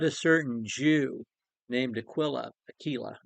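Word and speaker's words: Aquila: certain Jew named Aquilla Aila actually is how you pronounce that name Aila a native of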